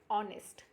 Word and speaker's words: honest: Here pronunciation of honest. Okay, Here H is silent.